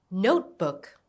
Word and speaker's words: notebook: Notebook. Notebook. Stress on note.